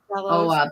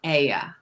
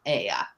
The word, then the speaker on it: Oia: It's pronounced it with an E, that the OI sound in Greek is an E. But you say it like E-I-E-I-O, Aya.